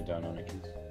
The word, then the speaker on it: Deinonychus: Is that how you pronounce it? Yeah, Deinonychus.